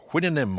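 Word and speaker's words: Houyhnhnm: As for hinnon, horse nostrils, the hinnon were the sentient horses in Swift's great book Goliver Travels.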